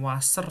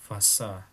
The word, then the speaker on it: Wasser: Bacanya bukan Wasser ya, tapi Wasser.